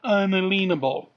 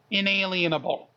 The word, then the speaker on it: inalienable: how to pronounce them the word is not unalienable inalienable get it right inalienable life liberty and